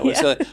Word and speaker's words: Silje: Chat with Silje. Yeah, Silje.